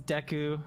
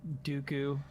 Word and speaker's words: Deku: development of the character it is deku not dooku all right i'll write